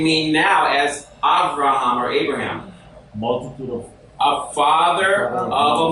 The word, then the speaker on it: Abraham: Abraham, and we would pronounce him in Hebrew as Abraham. So the B would be a V sound.